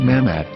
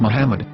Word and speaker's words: מחמד: According to Ben Yehuda's Hebrew English Dictionary, it is correctly pronounced as Muhammad, not Mamad. So how we're going to know for sure if it's pronounced as Muhammad, the Muslim prophet, or as Mamad, a random Hebrew word?